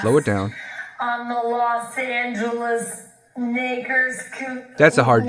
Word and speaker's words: Los Angeles: On the Los Angeles Lakers. That's a hard G. Los Angeles Lakers could be. That's a hard fucking G.